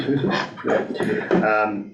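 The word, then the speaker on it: Houssos: And again, all ministers, and particularly the Minister for Finance, who was again quite impressive, Courtney Housas, that's how you pronounce it, Housas, indicated things were very tight.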